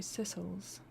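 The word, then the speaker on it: Sicels: Primary pronunciation sickles. Secondary sisles.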